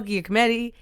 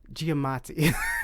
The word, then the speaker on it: Giamatti: for two people paul Giacometti and kim jong you have an honourable mention but you can't pronounce his name right get many Giamatti that would he played